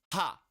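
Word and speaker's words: は: then we go this stroke and that is pronounced ha as in ha and that is and that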